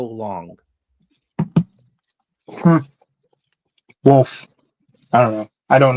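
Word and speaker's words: Wolffe: Now, let me ask you about the pronunciation of this, Eric. Anybody who's Wolfie. Star Wars, is that Wolf. Commander Wolfie or Wolf.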